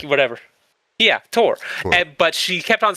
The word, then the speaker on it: Thor: Yeah, Tor. But she kept on saying, it's not Thor, it's Tor.